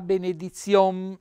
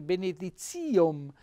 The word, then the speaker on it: benedizione: 100a messa per la benedizione ecco che è stata messa stranamente benedizione sulla i invece l'accento va sulla benedizione quindi un altro bello